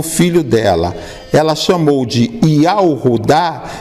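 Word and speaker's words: יהודה: Aí nós vamos ver que é pronunciado como, hoje já não se pronuncia em Israel Yahudá. Hoje em Israel se pronuncia Yehudá. Eles pronunciam assim justamente para não falar o nome que eles não querem falar. Entendi. Mas a pronúncia correta do nome Judá é Yahudá.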